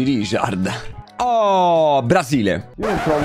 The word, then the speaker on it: Rijkaard: Mica dici Rijkaard. Dici Richard.